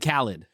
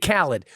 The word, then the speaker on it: Khaled: a thing about dj khaled right dj khaled khalid who i mispronounced his name all the time not on